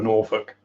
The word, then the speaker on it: Norfolk: So I'm in a proper Norfolk, which is actually correctly pronounced Norfolk.